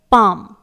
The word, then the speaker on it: palm: पहला वर्ड है पाम, PALM, यहां पर आप रेड कलर से देख रहे हैं L लेटर लिखा हुआ है, तो L लेटर को हम प्रोनाउंस नहीं करेंगे, इसे साइलेंट रखा जाएगा क्योंकि यहां पर यह L लेटर M लेटर के पहले आया हुआ है।